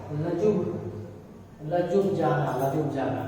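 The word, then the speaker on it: Ljubljana: इसका जो प्रोनाउंसिएशन होता है, वो जो लिखा है वो नहीं होता है। ठीक है, लिखा क्या है, लजुब, लजुब जाना, लजुब जाना।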